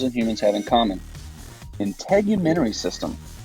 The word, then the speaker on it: integumentary: humans have in common integumentary system it's pretty difficult to pronounce word just break it on syllable by syllable in human Tory system integument is just a